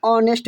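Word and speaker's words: honest: स्वर से होता है जैसे एन ऑनेस्ट बॉय ये एच प्योर क्या है जी साथियों कंसोनेंट है लेकिन इसका एच क्या होता है साइलेंट होता पढ़ते ऑनेस्ट क्या पढ़ते साथियों ऑनेस्ट पढ़ते हैं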